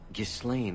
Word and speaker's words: Ghislaine: You think she left Ghislaine? Did she tell you she left her husband? No, I just hope that's what she did. Ghislaine only wants her for her family's wealth.